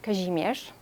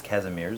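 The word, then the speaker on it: Kazimierz: old uh quarter of kajimesh that's the polish pronunciation otherwise known as casimir yes and uh it's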